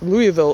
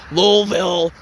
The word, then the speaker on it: Louisville: I think that's how the locals pronounce it. It's not Louisville or Louisville. It's Louisville.